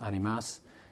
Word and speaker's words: Animas: And animus is actually the Spanish word, better pronounced animas, and it's plural.